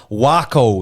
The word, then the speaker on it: Waco: course The Prodigy presents wo in Texas I think that's how you say it right like taco Yes W yep wo